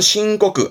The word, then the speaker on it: 申告: 발음은 신고그.